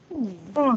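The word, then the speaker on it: schön: Shun. shun. Jack. Shun. Shun. Oh, Shun. shun. Shun. Shun. Shun. Artinya cantik, June. indah, ya. Shun. SCH SYOU shun. Pokoknya nggak shun, ya, tapi nggak sun juga, tapi shun.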